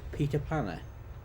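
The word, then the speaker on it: pytt i panna: Have you, Sterling, ever had something called Peter Panner? That's how you pronounce it.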